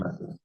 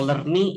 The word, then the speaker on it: lerni: tapi untuk yang sesuai pakemnya Esperanto ya harusnya bacanya lerni gitu, karena dalam bahasa Esperanto satu huruf hanya punya satu suara aja.